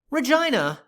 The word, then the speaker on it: Regina: town of, yes, this is actually how they pronounce it, Regina, New Mexico, we have the San Pedro Estate subdivision located right here and straddling both sides of State Road 96.